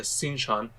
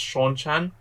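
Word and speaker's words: Seanchan: there they've all been gathered everyone except the sinchon by the way uh now that i've finished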